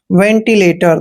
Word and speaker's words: ventilator: एल का उच्चारण ले करते हैं, ए को ए की मात्रा पढ़ते हैं, TO का उच्चारण टे करेंगे, आर को रे पढ़ेंगे, लेटर, वेंटिलेटर।